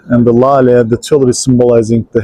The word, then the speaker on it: lale: The tulip, in Turkish we call tulips lale. The word of lale, let me spell it for you, L-A-L-E.